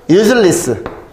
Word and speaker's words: useless: useless. 발음을 리스라고 발음하거든, 보통. useless.